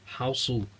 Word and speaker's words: Hausu: House, or as the Japanese title pronounces as Hausu.